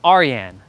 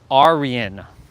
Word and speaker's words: Arian: So he put he put R the letter R and he put re E and then he put Yin Arian. I was like oh that's how you say your name.